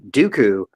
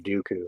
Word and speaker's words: Dooku: out the character of Dooku. I mean, everybody wants to say like, oh, his name rhymes with poo-poo, but I mean, he was a smart cat.